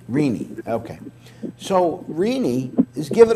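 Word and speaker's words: Rinne: How do you pronounce his last name? Rene.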